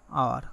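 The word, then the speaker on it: hour: For example, I am waiting for ইউ ফর অ্যান আওয়ার। এখানে উত্তরটা দেওয়া আছে এন। কেন এন হইল, কারণ এই এন এর পরবর্তী ওয়ার্ডটা হচ্ছিল আওয়ার, পরবর্তীটা হচ্ছে আওয়ার। এই এইচের উচ্চারণ কী হয়েছে, আ হয়েছে।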